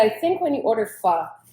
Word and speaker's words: pho: And I think when you order pho, it's the same Okay. cut. How you pronounce it really good.